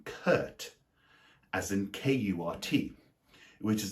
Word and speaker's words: Kurt: Then there's also the name Kurt, as in K-U-R-T, which is the same as the word curt, C-U-R-T, which is when you are rudely brief.